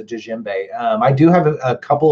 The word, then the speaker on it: djembe: anybody wants to know that's how you pronounce that it's a Jinbei I do have a